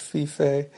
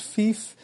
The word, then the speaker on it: Fiffe: And I should say, I learned at this panel that his last name is pronounced Fiffe. I always assumed it was Fiffe because there's no accent over the E, but of course this